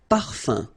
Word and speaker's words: parfum: You don't pronounce the M at all. Un. Okay? So par, fin, parfum.